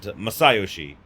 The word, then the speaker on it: Masayoshi: They pronounce it Masayoshi.